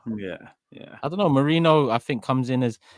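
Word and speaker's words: Merino: this guy's name because people keep on saying I'm saying Mourinho. I'm not saying Mourinho. I'm saying Marino.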